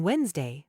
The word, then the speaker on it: Wednesday: idea here's one on Wednesday the psychologist thought thoroughly about the strength of the Island's ecosystem that's perfect it's got the silent deed in Wednesday the silent p in psychologist the DH sounds and